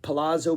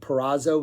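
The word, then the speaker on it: Perazzo: the band and like Palazo playing percussion just kind of jams in the back and again it parazo not Palazo paszo p e r a z zo o sorry for mispronouncing that paro's adding percussion um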